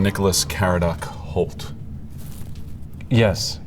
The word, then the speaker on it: Caradoc: Number one, is your full name Nicholas Kared Holt? Yes. Correct. Do I just say yes or no? Say yes or no. Yes. Did I pronounce that right? Karate. Yes. Karate.